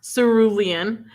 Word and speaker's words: cerulean: Have you read The House in the Cerulean Sea? We have. We read it together. Yes. I gave 4 stars. I loved it. I liked it after I learned how to pronounce cerulean.